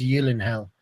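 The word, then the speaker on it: Gyllenhaal: he's married to Jake I never know to say Yen hell or jillen hell because he he said on camera that it's actually pronounced Y in hell yeah but his sister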